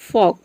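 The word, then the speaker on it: folk: फॉक, फॉक मतलब होता है जनता।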